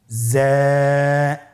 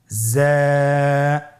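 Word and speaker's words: ز: তাহলে হরফটির নাম কি যা আবার বলুন যা উচ্চারণ করার সময় অবশ্যই এক আলিফ টেনে পড়তে হবে এক আলিফ টেনে পড়তে হবে হরফটি বারিক হরফ এজন্য পাতলা করে উচ্চারণ করতে হবে হরফটির মাখরাজ আপনারা দেখতে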